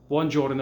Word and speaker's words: giorno: sound at the end jordan is the same way and then gi makes the j sound horno man house cash